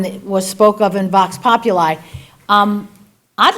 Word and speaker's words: Vox Populi: Because again, I'm reading about it in Vox Populi.